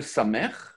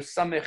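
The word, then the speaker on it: ס: Donc, comment elle se prononce? Ben, c'est le S. S. On a deux S dans l'alphabet, le Samer et le Sin, en tout cas, c'est la première lettre qui va être prononcée S.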